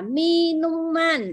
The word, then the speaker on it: minuman: Vậy thì các thức uống thì chúng ta thêm cái đuôi an vào và chúng ta đọc là minuman.